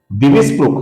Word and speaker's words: दिविस्पृक्: आगे की पंक्ति में पहला नाम है दोस्तों दिविस्पृक्। यहाँ पे जो अंतिम क है ये अपूर्ण क है, इसमें कोई भी परिवर्तन नहीं होता है क्योंकि आगे स आया हुआ है। दिविस्पृक् ये शब्द हमें कई